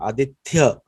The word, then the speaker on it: Aditya: very recent, like the tha, like they always mispronounce my name Aditya, and they try to convince me also that it is Aditya, but Sanskrit is Aditya Varnam Tamasa Parastat. So it's tha.